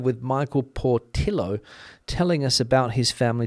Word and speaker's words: Portillo: But I'm sure Mr. Portillo, or Mr. Portillo, as his name would be pronounced here in Spain, has an interesting story to tell.